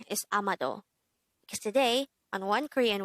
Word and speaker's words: 아마도: hangout word number 151 amado amado this is pronounced as a three-syllable word the first syllable is a second syllable is ma and the third syllable is do pronounce it with me